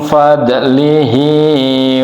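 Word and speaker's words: فضله: Allahu, Allah, min, dari fadlihi, tapi dibacanya fadlih, karunianya.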